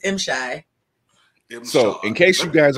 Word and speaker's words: M'Shai: It's actually M-Shy. I want to make sure I say it right, because I just always said Shay just messing up.